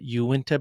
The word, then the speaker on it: Uinta: Fork petroglyphs um sure I think you you pronounce it Utah's is it Uinta basin yeah that's a that's a big one